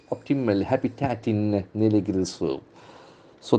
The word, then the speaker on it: optimal: Okay, optimal, optimal. The accent falls from the first syllable.